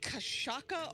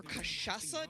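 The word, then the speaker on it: cachaça: And that is called Kashaka or Kashasa, depending on who you're asking to pronounce it.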